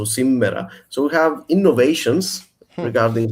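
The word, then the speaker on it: σήμερα: We pronounce it with a double M in Cypriot Greek, so simera.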